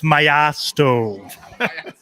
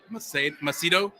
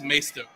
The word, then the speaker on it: Maisto: of the show asks what is the proper pronunciation of Maisto I'll take this one over it's myosto some people say masito I don't know how they get that but it is maesto got it maesto all right Andrew so uh